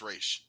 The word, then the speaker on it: Ra's: She says it's actually pronounced Raish.